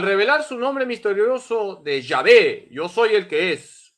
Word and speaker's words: Yahvé: Iglesia Católica número 206 las cuatro letras sagradas y H W H se pronuncian yahvé y Qué significa llave